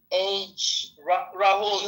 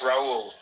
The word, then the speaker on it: Raul: Rahul, like, you know that Brazilian soccer player? Carlita, you know, you just don't say the H, okay? It's Raul. Oh, Raul.